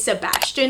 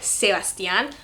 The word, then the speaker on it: Sebastian: I just realized that a majority of these names can be pronounced easily both in English and in Spanish. Mine is like 2 or 3, maybe 4. So I did a pretty good job without even noticing it. The first one is Sebastian or Sebastian. Love this name so much.